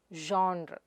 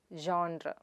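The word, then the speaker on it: genre: The next word id Jhaun-re. It is not jonra; it is Jhaun-re.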